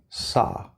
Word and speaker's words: saw: But if I put a W here, because this is a common spelling pattern, a native English speaker is going to see this and want to pronounce ah. Okay? Saw. So do not round your lips. You see a W, but there's no W.